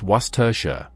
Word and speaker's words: Worcestershire: And before we go any further, it's pronounced Worcestershire, not Worcester.